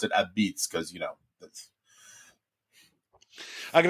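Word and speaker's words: apizza: beitz a i z Za a and they pronounce it Ab Beats because you know I got to grab some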